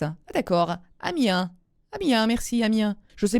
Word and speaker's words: Amiens: Amiens sans prononcer le S. Ah, d'accord. Amiens.